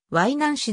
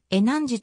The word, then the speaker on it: 淮南子: から入ったため漢音のはい何しではなく後音でえなんじと読むのが一般的であるワイナーを取り列